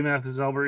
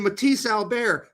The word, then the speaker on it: Mathis Albert: He did say Mathis Albert, yep. All right, Tact. We are coming at you for that, too, motherfucker. You need to start saying Matisse Albert. That is a correct pronunciation.